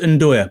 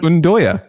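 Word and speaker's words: 'nduja: Because it's pronounced Ndoya, by the way, Michael. It's a kind of Ndoya.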